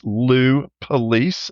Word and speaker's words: Police: high seltzers he is Lou police and it is pronounced as the law enforcement agency people are Lou how